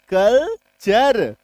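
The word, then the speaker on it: culture: जब किसी शब्द में जब किसी शब्द में टी के बाद यू आर ई आ जाए क्या आ जाए टी के बाद यू आर इ आ जाए तब टी का उच्चारण क्या होगा जैसे कि टी यू एल टी यू आर ई मतलब कि T plus you आर ई जब भी होगा किसी शब्द में तो इसका उच्चारण क्या होना है च तो सी यू एल टी यू आर कल्चर एफ यू टी यू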